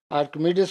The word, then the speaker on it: Archimedes: आपको याद होगा कि अर्शमीदस ने, इंग्लिश में प्रोनाउंसिएशन करते हैं तो ये आर्किमिडीज करके हम पुकारते हैं, प्रोनाउंस करते हैं, लेकिन जब हम उर्दू में अगर लिखें तो हम अर्शमीदस करके लिखते हैं.